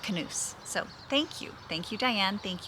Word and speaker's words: knus: my Knus top, and she said Knus means hug in Danish, so it is Denmark. So Knus means hug in Danish, and she said it's pronounced Knus.